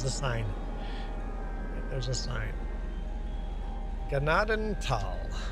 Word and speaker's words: Gnadenthal: Ganaden Tal. Ignore the H. H is silent. Pretend the H isn't there. Ganadan Tal.